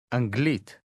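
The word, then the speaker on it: אנגלית: Anglit.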